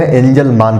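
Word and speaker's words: Engelmann: एंजल मैन बोला जाता है कई जगह एंजल मान पढ़ा जाता है। मैं इंग्लिश में लिख दूंगा, आप चाहे उसे मैन पढ़िए या मान पढ़िए।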